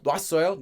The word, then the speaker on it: 놓았어요: And, in addition, this is not really pronounced like 놓아, 놓아, like you think it might be, because it's spelled as 놓아. If you say 꺼놓았어요, 놨어요, 놨어요, 놨어요, it gets pronounced pretty much almost identically to 놨어요.